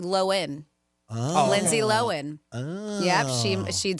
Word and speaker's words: Lohan: It's not, she said, commonly pronounced Lohan, but it's actually Lohan.